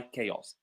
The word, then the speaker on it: chaos: So that's what we mean by chaos. The ch in chaos is pronounced as c.